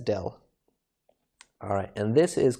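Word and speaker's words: ∂: this is i say del f del x so this curvy sort of d shape we pronounce that as del alright and this is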